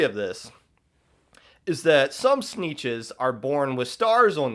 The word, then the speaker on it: Sneetches: They live on like an island, so I think they're called Sneetches because it rhymes with the word beaches, because that's where they live.